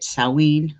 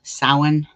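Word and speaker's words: Samhain: in in gaelic um there's a couple different ways you could say it saowin sawin um there's another way too i think it's the welsh way and i i'm not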